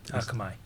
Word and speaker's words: Akamai: along with leadership roles at I'm going to pronounce this probably wrong Akamai? Akamai.